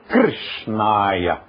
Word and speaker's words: Krishnaya: Mas o R, sânscrito, é o R italiano. Então é Krishnaya.